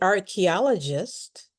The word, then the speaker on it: archaeologist: We don't spell it like we say it. So, the ch is like a k sound.